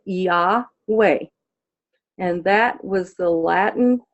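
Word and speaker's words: Iove: The I is pronounced like an E. The O is pronounced like a short O, like an ah. And the V is pronounced like a W. It's not pronounced like a V. And the E is pronounced like a short E. And all together, you put it together, you get Yahweh.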